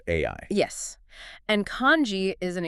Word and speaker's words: 愛: In the Japanese language, the kanji character for love is pronounced AI.